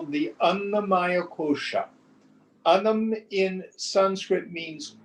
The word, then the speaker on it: Annamaya: Why do we call it the Annamaya Kosha? The food, Maya here with a short A means comprised of. Annamaya means comprised of food.